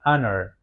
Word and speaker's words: honor: Karena pembacaan honor ini bukan honor tapi honor. Honor lebih kepada vokal.